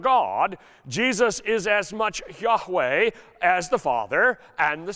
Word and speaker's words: Yahweh: That is the God of Abraham, the one who told Moses to call him I am, in Hebrew pronounced more or less as Yahweh.